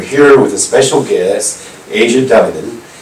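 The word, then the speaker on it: Aja: When I first heard your name, I'm like, Asia, oh, I gotta meet her. I thought you were gonna be Asian. But it's spelled A-J-A.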